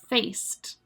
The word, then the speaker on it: faced: Faced. And again, the ED there, we're pronouncing like T.